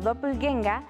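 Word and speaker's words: Doppelgänger: tienen palabras para todo un dopel ganger que se pronuncia como dople genga es un doble maligno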